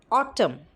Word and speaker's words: autumn: MN. For MN also, it is pronounced as sound m. For example, autumn, dam.